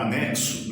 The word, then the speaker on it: anexo: diferença porque na escrita a letra x está representando ela sozinha representa dois fonemas que é o k e o s esse KS nós pronunciamos na palavra anexo assim como na palavra torax assim como na palavra táxi mas o contrário também